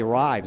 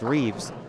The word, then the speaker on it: Reeves: People wanted to say Rives. It's R-I-V-E-S, but it's pronounced Reeves.